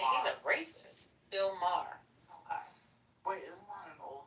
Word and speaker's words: Maher: Bill Maher.